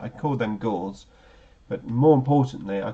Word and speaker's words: Gauss: Gauss has to be pronounced German.